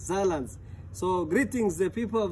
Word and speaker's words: Saarland: So in Swahili maybe we say it's like Saarland. But so the proper pronunciation is Saarland.